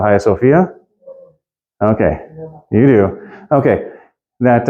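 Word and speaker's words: Hagia Sophia: in ancient in in coin Greek it is pronounced hagio Sophia and it's written like okay hagio sopia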